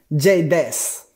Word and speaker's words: J-Dez: Todo este poco es J-Dez. Así se pronuncia. J-Dez.